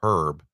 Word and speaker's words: herb: It's not Herb like Herb Tarlic from W KRP that wore the wild suits. That's Herb.